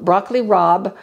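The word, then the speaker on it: broccoli rabe: dandelion greens and arugula broccoli Rob I'm going to show you broccoli Rob in just a minute it's spelled r a be but it is pronounced Rob broccoli Rob which is related to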